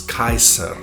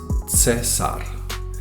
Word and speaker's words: Caesar: such as for instance the word caesar was originally pronounced as kaiser however during the 5th century ad it becomes cesar where the i becomes